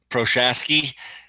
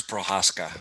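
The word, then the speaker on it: Procházka: that was but what did he say proshasky i'm sure there's an a regional accent that should be involved and we're just absolutely mauling that i'm pretty sure it's prohaska that's the way you pronounce it so anyways um yeah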